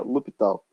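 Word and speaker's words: L'Hôpital: escreve assim, a gente pronuncia L'Hopital.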